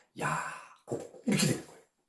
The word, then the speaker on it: 야곱: 히브리어 발음으로는 우리가 구약시대에 알고 있는 야곱. 이게 바로 야고보예요. 히브리어 발음으로는 야곱.